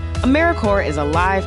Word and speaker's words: AmeriCorps: how to say or spell AmeriCorps sometimes people pronounce the piece but don't make that same mistake AmeriCorps is alive and well just filled with the silent P